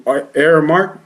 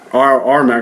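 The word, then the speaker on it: Aremac: It's actually Airmark. Is that how you say it? RMAC. I'm sorry. RMAC. It's camera spelled backwards.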